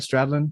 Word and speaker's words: Stradlin: the song did I say his name right stradlin am I I don't know that's right that's